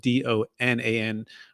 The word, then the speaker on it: Donan: That's spelled Donan for the last name. Kind of rhymes with Conan.